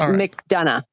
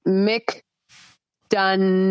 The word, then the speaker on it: McDonough: to pronounce her time it's McDonough all right I'm gonna commit to this McDonough yeah I know I'm right too Mick done yeah McDonough all right I'm I'm